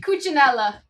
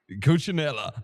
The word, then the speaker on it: Cucinella: to the Super K9 show with Cooellia. I hope I'm pronouncing your name right. Coochinella. Coochinella.